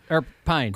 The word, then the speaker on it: Pine: So anyway, yeah, your guy Chris Prine. Well, Chris, how do you say his name? Pine.